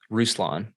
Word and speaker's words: Ruslan: your what's your first name how do you pronounce it ruslan ruslan rucy g see it's like but that's